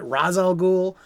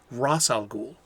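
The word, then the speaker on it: Ra's al Ghul: great comic book conversations how to pronounce his name is it razal ghoul is it rachel ghoul well in my humble opinion it's ross algul and that's my story and i'm sticking to it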